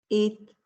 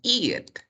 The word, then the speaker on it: it: Este de acá no se pronuncia como eat, porque eat significa comer. Eat significa comer. Carlos, entonces, ¿cómo se pronuncia? De la siguiente manera. Quiero que lo pronuncies así. It, it, it.